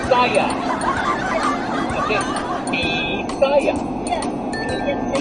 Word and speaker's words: Bisaya: In English or your language of Bisaya, whatever.